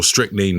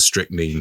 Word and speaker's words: strychnine: Yep, I think it's strychnine in British English, but strychnine in American English.